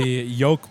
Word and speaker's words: yolk: No, the yolk part. Yolk. Yol. It's close. It rhymes.